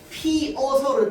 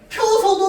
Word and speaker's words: 피어서: 피어서 해도 맞는 발음입니다. 이거 허용 발음이야. 그 원칙 발음은 뭘까요? 피어서입니다. 얘는 원칙 발음이야. 파이고 자 그래서 피어서라고 발음해도 되는데 얘는 끊어서 발음하면 우리가 이렇게 되지만 빠르게 발음하면 자동수 자동적으로 피여서라고 발음이 되거든. 자 그래서 얘는 허용 발음입니다. 어쩔 수 없이 일어나는 거기 때문에 피어서 피어서 다 되고 펴서도 됩니다. 근데 펴서는 첨가가 아니라 어디로 가야 된다고?